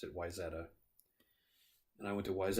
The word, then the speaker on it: Wayzata: zetas or ways odda but everybody I knew pronounced it Wayzata and I went to wise at an elementary